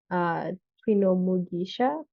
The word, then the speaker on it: Twinomugisha: Twinomugisha? I hope I said that right. What does your name mean? You said it right.